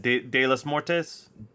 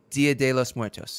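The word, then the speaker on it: Día de los Muertos: And on I can never pronounce this correctly, but the Day of the Dead, De los Muertos? Dia de los Muertos.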